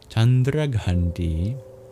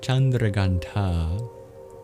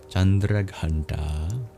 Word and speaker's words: Chandraghanta: The third night we celebrate chandra gandi sorry chandra ganta in Sanskrit uh feminine names end with a long vowel often like e or ah in this case it's ah chandra ganta this means the one